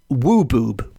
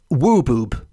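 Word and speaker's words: wwbwb: not encountered before, and I am assured it is pronounced wooboob. Yes, wooboob.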